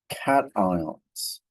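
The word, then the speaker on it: cation: forming positive ions and we call these positive ions cat ions that's how you pronounce that word cat so cat ions have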